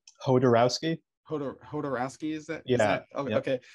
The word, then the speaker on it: Jodorowsky: Honestly, how do you pronounce his last name? Jodorowsky.